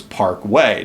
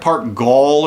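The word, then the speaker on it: Güell: to the next major gouty attraction which was Park way now how is way spelled it's like Gad e l yeah so it look it looks like Park Gul or something but it's Parkway is how it's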